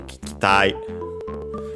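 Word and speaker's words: 聞きたい: Between the two, I'd say the first I isn't is barely heard if at all.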